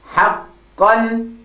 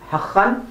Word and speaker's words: حقا: And the next one we have is حقا. حق. Not حقا, but حقا.